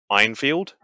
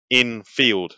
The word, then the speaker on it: Enfield: pisses me off because he pronounces it as Einfield. It's like, there's no I in Enfield except for the field, not in the N. It's like, you listen to everyone, it is Enfield, not Einfield.